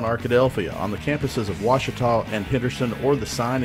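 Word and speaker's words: Ouachita: Back in Texas, everybody pronounces it Wichita, but really, it's Washita. Washita. Washita. How would you pronounce it? Washita. Washita.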